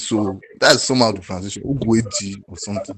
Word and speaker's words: Ogueji: Ogueji or something like that. So. Ogueji. All right. Rufia? Hi, good morning. So the name is actually pronounced Ogweji. That's how it's actually pronounced.